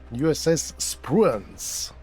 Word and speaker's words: Spruance: Это эсминец USS Spruance. Вот так вот. Я прям даже пошел и посмотрел, как это произносится.